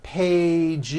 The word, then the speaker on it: pages: pages unvoiced no it's two pages with a voiced Z even though you spell the word like this in American English you pronounce the word like this Pages you're probably saying I